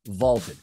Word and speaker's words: VLTED: Check out Vaulted, that's spelled V-L-T-E-D, Vaulted.